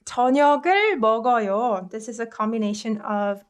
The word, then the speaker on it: 저녁을 먹어요: with this is that you just move this 기역 받침 to the next letter and read it as if this is the first consonant. So this word is pronounced 저녁을 먹어요. You combine this 그 sound with 어 vowel, right?